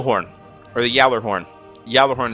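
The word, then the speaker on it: Gjallarhorn: or the Yer horn Yer horn is actually how you pronounce it anyway it's a German German word and uh I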